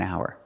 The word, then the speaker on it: hour: starts with a vowel so we do not say a hour it's an hour an hour because because the H is silent it starts with a vowel sound an hour other examples